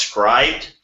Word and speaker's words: Scribd: In news, I'm guessing this is sad that I don't know about this sooner, but I'm guessing this is pronounced scribed.